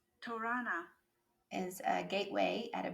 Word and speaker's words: torana: this to make sure i'm saying it correctly torana is a gateway at a buddhist stupa or